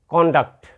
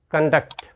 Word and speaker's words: conduct: noun you will pronounce conduct and when we use it as a word we must pronounce it conduct you must know this difference the next word is